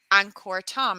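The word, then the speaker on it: Angkor Thom: here for two nights and you go to Anor Tom is that the right pronunciation zth yes correct here you go one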